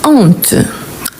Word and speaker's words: honte: Comme je vous ai dit, on a le H muet, qu'on peut faire élision et liaison. Il y en a le H aspiré, qu'on ne peut pas faire ni la liaison, ni l'élision.